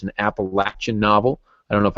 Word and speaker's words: Appalachian: me on and and you did say it right you said Appalachian and you know that is really what it is the Appalachian Mountains most